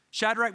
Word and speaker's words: Shadrach: I couldn't pronounce Shadrach, Meshach, and Abednego, so dad taught me, shake the bed, make the bed, and the bed will go.